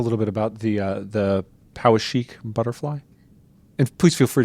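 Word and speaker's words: Poweshiek: bit about the the power sheik butterfly if please feel free to correct my pronunciation no power chic is fine hey great I'm it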